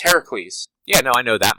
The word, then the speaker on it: Heracles: He's actually supposed to be pronounced Heracles.